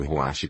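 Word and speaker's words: רוח: Que ruach é ruach que kh. Ou CH, e é pronunciado ruach como se você tivesse tosse.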